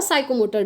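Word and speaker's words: psychomotor: P का मतलब हुआ साइकोमोटर डोमेन। ठीक है, आई होप आप लोग समझ गए होंगे। देखिए ये P ना इसमें साइलेंट रहता है, ठीक है, इसको ना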